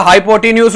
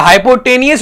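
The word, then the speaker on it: hypotenuse: Perpendicular के सामने हमेशा हाइपोटेन्यूज होता है या हाइपोटेनियस इस पे कहते हैं मेरा बेटा। कुछ लोग हाइपोटेन्यूज से प्रोनाउंस करते हैं, कुछ हाइपोटेनियस कहते हैं।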